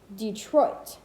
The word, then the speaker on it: Detroit: unstressed syllable followed by stressed syllable dumb as in delay or pronounced correctly detroit wait detroit bye-bye trochee